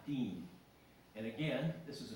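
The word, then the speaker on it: disme: Half Disney? Where did that come from? Well, it actually is pronounced half Dean.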